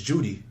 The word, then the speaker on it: Jeudy: said my name is my last name is Judy he said during his